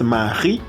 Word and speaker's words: Marie: Es porque en francés la última letra casi no se pronuncia. Por eso es Marie y no Marie.